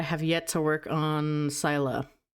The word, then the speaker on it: Scilla: yet to work on Sila or Sila. It's pronounced one of those two ways. I think it's I think there was an entire conversation about this I had with some people and I think it's technically pronounced Sila but I was but I always pronounce as sila cuz I'm a little freak.